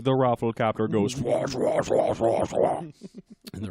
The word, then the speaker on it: Rafflecopter: it yeah but you don't like overpronounce it like medieval no that's not that one requires it um it's rafflecopter there's really not an iev or anything in there that we're not